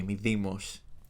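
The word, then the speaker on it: Mydeimos: Let's say it the Greek way. Medimos.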